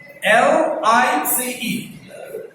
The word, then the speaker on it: lice: You may pronounce it in two ways. Lice. You may stick your tongue out. Lice. Or the tip of the tongue touches the upper teeth inside. Upper teeth inside, the tip touches.